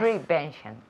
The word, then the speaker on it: prevention: well pronounced okay yeah prevention prevention prevention yes the second syllable prevention prevention repeat prevention